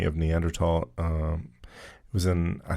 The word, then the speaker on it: Neanderthal: because people were saying Neanderthal. It's a German word and in in in German the th is a hard T sound. Interesting. Because I've always heard even science teachers say Neanderthal.